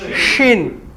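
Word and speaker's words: شين: যে সিন ফাঁকা থাকলে সিন আর নুক্তা দিলেন শিন নাকি সিন আর শিন এটা হচ্ছে যে দাঁতটাকে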